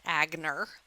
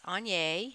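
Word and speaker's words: Aigner: also gave me this on that's how you pronounce it it is not agner it's on after the Hungarian man who invented the brand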